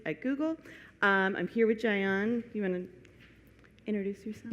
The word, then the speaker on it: Jayeon: I'm here with Jayeon. You want to introduce yourself? Yeah, of course. Hi, my name is Jayeon. It rhymes with National Park Zion, Z-I-O-N, but with J.